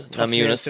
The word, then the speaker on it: Namajunas: Yes, on the ball, Namajunas. To pronounce.